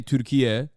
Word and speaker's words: Türkiye: Like you got like this British dude working for the Turkish state broadcaster trying to say Türkiye, which is like the new naming convention for Turkey, which is like the actual is how you say Turkish Turkey in Turkish.